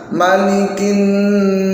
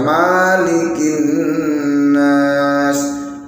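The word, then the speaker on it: مَلِكِ: Selanjutnya malikin nas. Ini sering sekali ada yang baca malikin nas, padahal ini mimnya dibaca pendek. Maliki bukan malikin nas. bacanya pendek.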